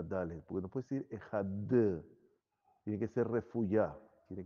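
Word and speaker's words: אחד: Meterla entre los dientes para no dejarla que sea de Gushá, que sea una Dalet fuerte.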